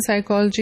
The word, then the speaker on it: psychology: For example, P in psychology is not pronounced, P in pneumonia is not pronounced, K in knife is not pronounced.